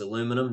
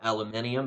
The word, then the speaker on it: aluminum: You have to determine what the substance is, and it's aluminum, and it is pronounced aluminum, not aluminium, because we live in America.